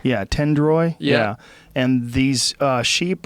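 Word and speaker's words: Tendoy: Tendroy.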